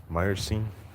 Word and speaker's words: Meyerstein: First time spelled your name correct or said your name correct, Meyerstein. I've studied a few languages. I was just applying some things that I've learned. I thank you for affirming that I was pronouncing it correctly.